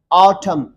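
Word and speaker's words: autumn: Like for example column n silent है, ऑटम n silent है.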